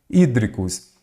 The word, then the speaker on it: hídricos: Hídricos, ela é uma proparoxítona.